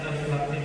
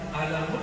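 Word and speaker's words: الم: Karena bahasa mereka masih bahasa bumi, sedangkan alif lam mim bahasa langit. Ya. Semua orang Arab bingung. Kita alhamdulillah diizinkan Allah Subhanahu wa taala mendapatkan ayat-ayat seperti ini. Dan dibacanya bukan alamun, artinya penyakit, sakit.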